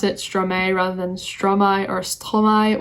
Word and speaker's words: Stromae: i do know that his name is pronounced in various ways um it can be pronounced stromai like fully french it could be pronounced stromai which would be like half english half french and the reason